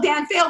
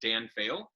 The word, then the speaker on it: Dan Faill: So it's a lot of my social media is Dan Faill, which is DANFAILL. So it's pronounced like to flunk, fail like to flunk, but it's with an extra L on the end.